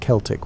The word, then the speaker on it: Celtic: The Celtic peoples, and yes, we pronounce it Celtic when talking about these historical folks, not the basketball team pronunciation, occupied a vast swaith of Europe stretching from modern-day Turkey to the Atlantic Ocean.